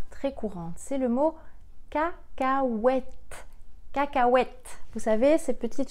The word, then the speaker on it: cacahuètes: de cacahuètes ah ah le h est silencieux hu a et le e silencieux cacahuètes car cas wet cacahuètes